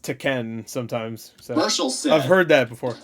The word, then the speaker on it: Tekken: I watch saying it wrong I've been saying teken because that's what all I've heard it's it's pronounced taken sometimes I've heard that before there are games